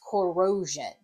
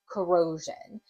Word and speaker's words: corrosion: So say the word you want to spell is corrosion, corrosion. I can hear that jun at the end, and I recognize that it is S-I-O-N.